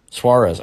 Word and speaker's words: Suarez: Suarez. She said I pronounced it correctly the first time.